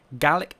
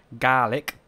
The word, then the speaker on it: Gaelic: Gaelic in English is pronounced just how I'm saying it, while in Scottish it's pronounced Gaelic, right? So think garlic without the R, while Gaelic in Irish, right, is pronounced as Gaelic.